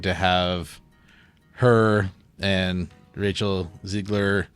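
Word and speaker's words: Zegler: than the evil witch uh Snow White's Rachel Ziggler is how you say her name yeah she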